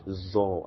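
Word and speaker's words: ظاء: So we'll call it Zor, as in zodiac, Zor, Zor.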